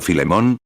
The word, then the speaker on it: Filemón: Alguien dijo Filemón que creo que es la pronunciación correcta.